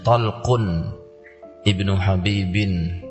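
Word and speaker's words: طلق بن حبيب: Tulisannya bahasa Arabnya ya ta lam qaf. Talq. Bacanya Talqun ibnu Habibin, ya.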